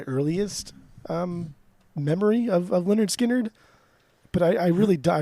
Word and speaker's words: Lynyrd Skynyrd: what are we doing today we are doing Leonard skinnard and their record pronounced Leonard skinnard what is your uh what's your origin story